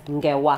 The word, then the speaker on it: Ngewa: And Ngewa, this is your EP. Yes. Six tracks. Yeah, talk to us about that. Ngewa, I'm sure it means stories. It means stories. Actually, it's pronounced as Ngewa.